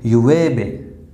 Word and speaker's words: llueve: Okay, llueve. Double L is pronounced as A. Okay, so llueve.